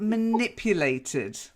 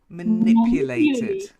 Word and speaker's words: manipulated: six okay are then manipulated that's not a silent e to manipulate somebody manipulated manipulated manipulated adverts my